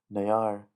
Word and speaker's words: ne'ar: Ne'ar means my, which in Mando'a is ner. So the only difference here is that it adds an extra syllable.